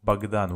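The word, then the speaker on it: Богдан: The same about, for example, I always write in English the name of Bagdan with A in English, but in Russian it's written with O. But they say Bagdan.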